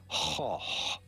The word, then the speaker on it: Gogh: Van is not correct, but rather in Dutch they say van. Van. Shorter with a more open A sound. Van. Van. And then in Dutch they do not say goch, but rather goch. The G is not pronounced like a G, but like a H. Goch. Same sound at the beginning and at the end. Goch. Vincent van Gogh is how the Dutch say it, like it or not.